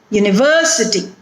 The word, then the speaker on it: university: Next word, university. U-ni-ver-se-ti, which means it has 5 syllables as we have already seen. Now where is the stress in this word? Ver. University. So the syllable which is